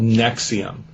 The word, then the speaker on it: NXIVM: is a group called nexium nxivm pronounced nexium like the uh stomach uh medication uh but anyway it